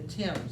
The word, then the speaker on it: Thames: contrasts you got the thames it's spelled t-h-a-n-e-s but pronounced more like it's just t-i-m-s all right the thames river is the river